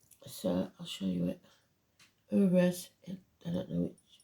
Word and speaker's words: Uruz: Uruz. I don't know which. It's like an N really, but it's Uruz. It's this. The pronunciation is U or double O.